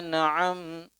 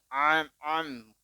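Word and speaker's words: أنعمت: Siratal ladzina an'am. Bukan am. Hamzah setelah itu baru ain.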